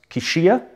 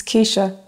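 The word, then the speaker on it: Keisha: I'm detective your name is pronounced kishia it's Kesha Kesha Thomas before we begin I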